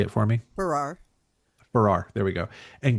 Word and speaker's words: Farrar: Farrar.